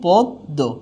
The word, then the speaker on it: পদ্ম: যায় যেমন এখানে পদ্ম আছে হয়ে যাবে কি পদ্ম কি হয়ে যাচ্ছে দীপ্ত বঞ্জন হয়েছে এখানে আছে